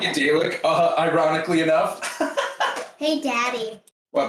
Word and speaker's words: Dalek: It's Dalek, not Dalek. It is pronounced Dalek. Dalek. Not garlic. It's not garlic.